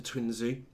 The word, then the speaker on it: Twinzo: Now, the correct pronunciation of the Twinzo is Twinzo.